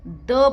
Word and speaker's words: the: है तो हम इसको द बोलेंगे। अब यहाँ तो वाउल है, ओ क्या है, वाउल है, तो जब ये वाउल है इसलिए हम इसका प्रोनाउंसिएशन दी करेंगे।